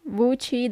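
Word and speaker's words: WC: have this is easy vui W says vui in Italian vui the shower La DOA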